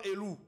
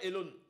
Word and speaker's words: Elown: On m'appelait je m'appelle Elone. Tata Cam n'arrivait pas à prononcer le mon nom mon nom Elone. Elle disait elou se moqué de moi Elou Elou.